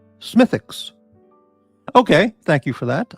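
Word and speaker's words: Smithwick's: Spring Smithwicks is pronounced Smithix. Okay. Thank you for that. I didn't know that. Justin Forge, our Canadian beer uh authority, says Smithwick. Smithic is the accepted pronunciation. Okay, Smithic.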